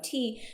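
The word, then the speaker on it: 茶: It's the same character as cha, but it's pronounced te.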